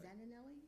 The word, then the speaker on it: Zaninelli: The application is Fabio, and I'm going to pronounce this, I hope, well, Zaninelli? Yes, right. Zaninelli? Yeah, you got it right.